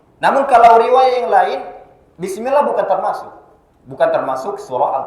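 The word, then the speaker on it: بسم الله: lagi atau lafzul jalalah lafzul jalalah di sana panjangnya dua harakat ya panjangnya dua harakat tidak boleh lebih ya ada sebagian orang yang bacanya lebih lebih dari dua harakat misalnya seperti ini bismillahirrahmanirah itu berlebih tidak boleh Harus dua harakat Bismillah seperti itu dan saya ingatkan sekali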